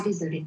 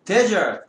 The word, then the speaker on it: desert: 강세에 따라서 뜻이 달라지는 특이한 단어가 있어. 얘를 desert, ed 없다 치고 ed가 없다 치고 desert라고 읽으면 사막이라고 했어요. 근데 여기를 세게 읽으면 desert가 되고 그때는 버리다라는 뜻이 된다.